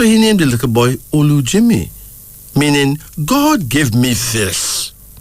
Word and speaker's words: Olujimi: And then there's Olujimi. O-L-U-J-I-M-I.